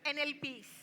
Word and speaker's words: Enepe: NLPs.